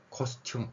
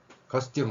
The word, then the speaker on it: 코스튬: 쌍디귿이라는 의문 현상이 일어납니다 코스튬 발음 힘들어요 커스튬 하세요 그럼 좀 더 쉽습니다 인간의 언어 구조가 다른